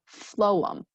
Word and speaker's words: phloem: So we have xylem, and then the second one starts with a P, but it's a PH sound. So it's actually an F sound, right? These are confusing. So we have phloem as the second one. So xylem and phloem.